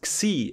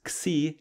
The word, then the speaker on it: Xi: not Omicron, it is Xi, as we pronounce it in German. I don't know how to pronounce it in English. Xi, yeah?